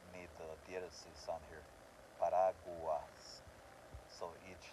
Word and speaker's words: paraguas: Paraguas, okay, that's the tricky one. That's not actually a dièresis using a word, paraguas, because it has an A sound.